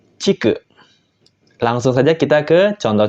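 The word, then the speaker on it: 竹: saja kita ke kunyominya untuk kunyominya dia dibaca take yang artinya bambu untuk Ong yominya Cik langsung saja kita ke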